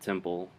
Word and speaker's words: temple: I see what you're saying, that it sounds like a B because it's so short, Yeah. but it's P.